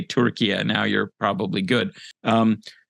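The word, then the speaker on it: Türkiye: official name change so how do we pronounce it now what is it turkia turkey yeah turkey and there's an umlaut over the U but nobody expects Americans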